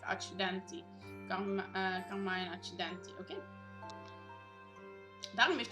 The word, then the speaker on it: Accidenti: Oh, het wordt op zijn Italiaans uitgesproken. Accidenti.